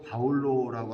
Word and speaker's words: 바울로: 그래서 지금까지도 이제 사도 바오로 정확하게 발음하면 사실 사도 바울로라고 하는 게 맞는데 우리가 오래전부터 바오로라고 이름했었기 때문에 그냥 바오로라고 하는 거죠.